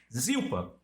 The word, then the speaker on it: Zilpa: Aí botou Zilpa, Zipar, é Zipa na pronúncia.